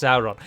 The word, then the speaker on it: Sauron: he not do that he himself pronounces it as sauron shortly afterwards without a missing a beat and yet we know from his own hand that he said it should be pronounced sauron so if the person